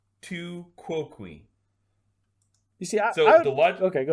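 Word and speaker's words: tu quoque: pronunciation online it did on wikipedia it says tu quoqui you see so okay go ahead two kokui the the logical fallacy of tuquoqui uh in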